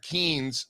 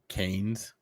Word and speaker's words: Keynes: You know, Strazza brought up uh, John Maynard Keen. Uh, I don't know if you guys have read the Bitcoin standard. Have you, Strazza? Apparently, I pronounced Kees wrong. Keynes?